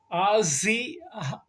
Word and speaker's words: Ossee: So the last guy, oh man, his name's kind of hard to pronounce, but I'll give it a try. Ossee. How do you say it? Ossie.